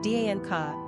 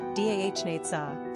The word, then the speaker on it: Danica: Pronunciation, Danica, English, Dahnetza, Slavic.